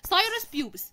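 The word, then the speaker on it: Pthirus pubis: طيب تعالوا بنقول سايرس بيوبس، تمام، البي اتش ما بتتنطقش، بنقول سايرس بيوبس او كراب لاوس.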